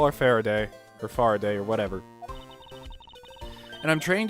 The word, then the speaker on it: Faraday: Farr a day yeah you guys pointed out that I've been mispronouncing Kay's name it's actually a Faraday um kind of it I've been calling it far day because it sounds better in my opinion but I'll call our